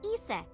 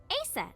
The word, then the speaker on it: Isis: Horus's mom is named Isis, but in ancient Egyptian, it's pronounced closer to Iset or Aset.